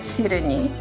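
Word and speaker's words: Սիրենի: Но и другото му име, което също е арменско име, е Сирени. Сирени. Сирени, като сирене, но сирени. Ама аз малко сменени ударени.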